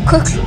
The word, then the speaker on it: Kukl: One thing about your music is that you used to play in Kukl, how do you pronounce it? Yeah. Kukl.